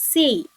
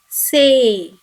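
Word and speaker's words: せい: the long a sound when c is added to e we get say it should not be pronounced as c it is say and when b is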